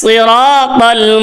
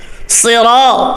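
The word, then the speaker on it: صراط: আওয়াজ হবে ইহ দিনাস সিরাতাল মুস্তাকিম সিরাত সুই অনেকে ছুট গোল করে এখানে সদ হবে সিন হবে না সি হবে না সিরাত পুর সিরাত শক্ত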